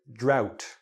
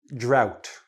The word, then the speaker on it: drought: start with flood and drought okay the H the GH not pronounced drought flood like going up